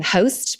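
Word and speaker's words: Haust: And I love um there's an American sister duo called um, Host, but it's spelled Host, H A U S T, and they're all about dinner parties and tablescapes.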